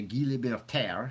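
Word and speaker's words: Guy Laliberté: So Steve Wynn goes to Guy Libertaire. You have to say it like you're French.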